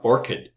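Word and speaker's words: ORCID: know there's two is this researcher have an orchid that's how you pronounce Orchid ID so here's the website um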